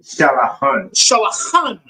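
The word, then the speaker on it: שולחן: Shalachan. Khan. That's that hard C.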